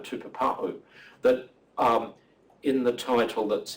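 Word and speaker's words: tupapaú: And the second one, tupapa'u, there is a stop, and a glottal stop means like a lost consonant, like ba'a, or something like that in Cockney.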